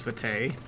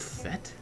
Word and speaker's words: FATE: just kept pronouncing as fate and uh according to the internets it's like a French word or something and fate is actually